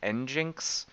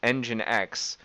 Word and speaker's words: nginx: run an nginx server I actually used to pronounce this n Jinx for the longest time it's actually nginx so I built engine X which is an open source um a sort